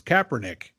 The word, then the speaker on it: Kaepernick: kissing her pack Nick it's Kaepernick gotta say get his name wrong I'm gonna say it